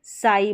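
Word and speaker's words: sigh: हैं तो यह देखिए एस है एस के बाद में बाद में आई जी एच है तो यह साई बन गया क्या बन गया साई तो यहां पर इस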